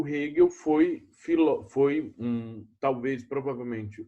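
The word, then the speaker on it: Hegel: que é o frederich hill o vídeo tá se escreve egeu mas é rio o rego foi foi um talvez provavelmente o filósofo mais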